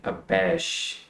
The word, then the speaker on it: abash: तो इसमें इसकी जो फर्स्ट सेलेबल है बैश का, उसके ऊपर स्ट्रेस है। मैंने फोनेटिक की भी साथ में डिस्क्रिप्शन दे दी है। तो इसको हम प्रोनाउंस कैसे करेंगे, अबैश।